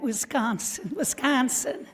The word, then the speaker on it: Wisconsin: I am from Wisconsin, and we pronounce it like that, Wisconsin. Yes, more importantly, Mount Horeb, Wisconsin.